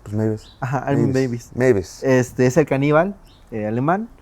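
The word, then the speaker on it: Meiwes: No, la W se pronuncia como B en alemán. Sí. Mavis. Pues Ajá. Mavis.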